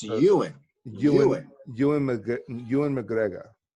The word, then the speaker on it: Ewan: skipping the why part Ewing and I was pronouncing it Ilyn but you and it's Ewan Ewan Ewan McGregor and McGregor yes it's good